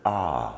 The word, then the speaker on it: are: And phonics tells us that we should be making a long A sound there. Well, it's almost impossible to make A. I can't do it. So it simply makes the capital sound of R, or the long alphabet